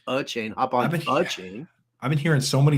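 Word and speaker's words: Achane: um hop on the a chain yeah well it's uh it's a chain not a chain so it's a chain I've been hearing so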